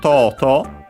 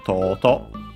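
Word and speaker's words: とうとう: First and foremost, we have Toto, an adverb, which means finally, at last, in the end, ultimately. Accent on the first syllable, despite being technically a Chinese compound, so be careful.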